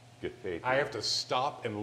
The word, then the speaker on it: Gathaithi: Gathaithi.